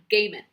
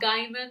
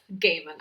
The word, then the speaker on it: Gaiman: it comes along is the sandman by neil gaiman and yes that's how his last name is pronounced it is not guyman it is gaman i researched so i am confident that's how